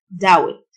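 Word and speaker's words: doubt: ريمم شك او يشك داوت البي سنت دات يؤكد على البي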